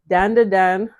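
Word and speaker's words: Dandadan: again and oh oh okay here's the update danda Dan yeah that's how you say it danand Dan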